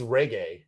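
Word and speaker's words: Regé-Jean: When he was on Saturday Night Live, he pronounced it reggae.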